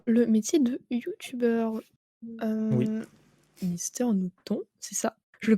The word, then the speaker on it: Mister Nooton: Donc, pour le métier de youtubeur, Oui, Mister Newton, c'est ça? Je le c'est prononce ça.